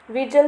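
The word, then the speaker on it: vigil: हरकत पर नजर रखेंगे विजल मतलब नजर रखना इसे प्रोनाउंस करेंगे विजल गगिल नहीं पढ़ना इसे विजल खाव से खून निकल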